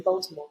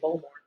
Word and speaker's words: Baltimore: Um it's quite funny because they don't say Baltimore. They say Baltimore. Is it? Oh, they they skip a syllable.